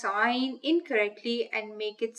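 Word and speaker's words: عين: Now there is another major difference between ayn and ghayn, and that is that ayn is not pronounced with a fuller mouth. So the sound of ayn is not heavy.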